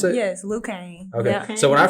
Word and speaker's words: Khang: Is that how you pronounce it? Yes, Khang.